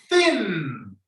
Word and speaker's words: thin: Thin. Think. Dejan la lengua abierta para que se le salga el sonido de la N.